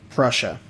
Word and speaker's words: Prussia: I'm just going to pronounce it as you would Russia with a P on it. Is it Prussia?